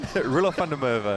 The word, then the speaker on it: Roelof van der Merwe: another cricketer I expect Kyle knows pretty well, Roelof van der Merwe there. Yeah, I thought Jamo hesitated there because he couldn't get the pronunciation out. What is it again? Roelof van der Merwe.